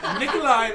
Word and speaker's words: Nikolaj: Nikolaj, the J is silent.